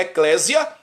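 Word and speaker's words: ἐκκλησία: grego hebraico aramaico eo grego se pronuncia a eclésia tá muitos cristãos já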